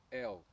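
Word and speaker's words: אל: A pronúncia da palavra Deus em hebraico é El, e ela é formada pelas letras Aleph e Lamed.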